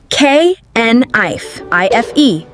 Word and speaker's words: knife: Many people say the K, but the K is silent the wrong way. K N. I F E.